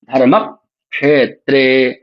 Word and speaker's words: धर्मक्षेत्र: धर्म क्षेत्र तो आपको सुविधा होगी। जो हलंत वाला क है उसका उच्चारण पिछले वर्ण के साथ ही कर लीजिए।